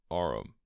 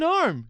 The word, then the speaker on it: arm: He pronounced it arum. An arm, you goose.